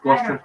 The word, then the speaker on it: Gloucester: Now Gloucester is sort of like Worcester, but it looks like Worcestershire, but it's pronounced Worcester.